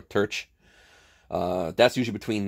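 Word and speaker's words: terce: The mid-morning, I believe it's pronounced terci or terch.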